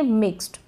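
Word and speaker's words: mixed: रखना इसको हम पढ़ेंगे मिक्स्ड क्या पढ़ेंगे मिक्स्ड अब मिक्स्ड मिक्स्ड नहीं पढ़ेंगे मिक्स्ड ट का साउंड आ रहा है थोड़ा बहुत जो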